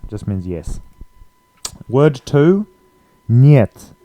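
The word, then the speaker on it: нет: means yes word two niet it looks a bit like hit but it's um the E is pronounced as a y e so yeah instead of E so niet means no means next word we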